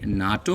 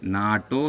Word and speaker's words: NATO: I pronounce it like a word. A NATO member here. NATO member.